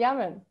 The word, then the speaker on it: Éamonn: Yeah, Séamus and Éamonn. Yeah. Now it's not harder than E fada. Yeah. It's like you're saying Éamonn or something like that. You're putting an emphasis on the second.